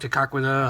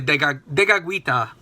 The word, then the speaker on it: Tekakwitha: of Saint Kateri Tekakwitha, as it's said in Mohawk, Tekakwitha. I don't know how people say it in English. I actually know the Mohawk pronunciation better than the English. But it's really Tekakwitha.